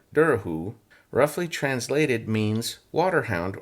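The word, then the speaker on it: Dobhar-chú: what it looks like, but in Irish it's pronounced Durahoo and she she spelled it dur.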